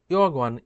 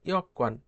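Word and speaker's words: 여권: এরপর কি বলছে, ইয়কওয়ান, অনেকে দেখি ইয়গওয়ান ইয়গওয়ান উচ্চারণ করে, এটা ইয়গওয়ান উচ্চারণ ভুল, আপনারা লিসেনিংয়ে শুনবেন ইয়কওয়ান ইয়কওয়ান। তাহলে কি বলছে, বিদেশে যেতে চাইলে কি প্রয়োজন?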